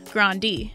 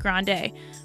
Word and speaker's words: Grande: place first of all her last name is pronounced as grandi not grande but the star insist